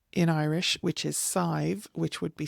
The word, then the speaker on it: Sadhbh: So if you had an S on there, that would be Sive. So that's why I pronounce Badb as Badb, not anything else.